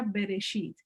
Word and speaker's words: Bereshit: hasta el capítulo 25 génesis en hebreo se pronuncia bereshit si estamos estudiando esta